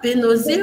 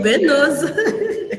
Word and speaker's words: Benoze: On le prononce comme ça, bénosée ou bénose. Ah bon, les deux manières, pas de problème.